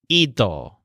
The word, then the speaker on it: ido: The word here on ear's roof is ido, So the stressed syllable sounds kind of like eat.